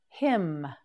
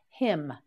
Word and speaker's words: hymn: time hygiene that's right him him him can you tell the n on the end of this word is silent say it with me him again him yes repeat once more hym well done a hymn